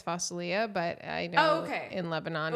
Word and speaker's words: fasulia: No, well, for our Syrian listeners, it's fasulia, but I'll... Well, what are you talking about? It's the green beans with the lamb and the tomato sauce. Okay, what did you call it? In Syria, it's fasulia, but I know in Lebanon, but what did